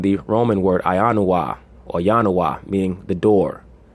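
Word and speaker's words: ianua: It comes from the Roman word Ionoua, or Yanoua, meaning the door. Right? Yanoua or Yanoway. Yanoway is the plural, doors. Remember, there was no J in the ancient languages.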